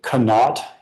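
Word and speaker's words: Conaught: Gumby was the owner of the company of and the company is I'll spell it for the core but also pronounce it canot.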